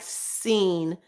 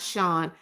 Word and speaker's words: Sean: Sean said, "Why is there so many people who say my name like Scene and not Shawn?